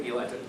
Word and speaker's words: Eli: It's Ellie, not Eli, right? How do you pronounce it? So I'm running as Eli. Ellie's the Hebrew pronunciation.